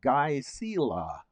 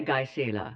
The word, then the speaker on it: Gisela: pronounced these days, but back in those days it was pronounced Gisela. You know, g i s still say Gisela. Okay, good. Yeah, to me it's Gisela.